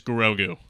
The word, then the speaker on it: Grogu: all looked at me and they're like, "It's Grogu."